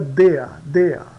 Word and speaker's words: der: Isso aqui se pronuncia dea. O IE se pronuncia die.